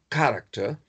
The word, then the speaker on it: character: The pronunciation is character.